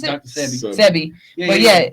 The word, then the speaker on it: Sebi: That's how you pronounce it. Dr. Sebi.